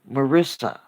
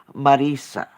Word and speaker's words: Marisa: I detest the two S's because that infers or implies the pronunciation Marissa, and I do not like that pronunciation. I am not Marissa Tomei. Me llamo Marisa, Marisa.